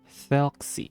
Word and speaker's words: Thelxie: Thelxie. Okay, Thelxie. Thank you for letting me know how to pronounce that.